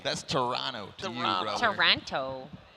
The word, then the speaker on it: Toronto: Toronto. You're pronouncing the second T just like Phi.